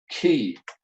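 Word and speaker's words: quay: of a harbor is the word key spelt with qu a ey yeah and if you're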